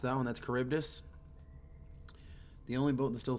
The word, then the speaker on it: Charybdis: James Fitzroy is the captain of the That I know how to pronounce that one. That's Charybdis.